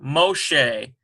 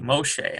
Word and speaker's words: Moshe: Here's Mem, O, Moshe, Sheen, S sound there, ends with a H sound, M-O-S-H-E, Moshe. I'm getting Moshe out of that.